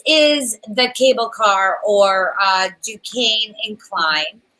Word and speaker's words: Duquesne: Is that how you say it, Duquesne?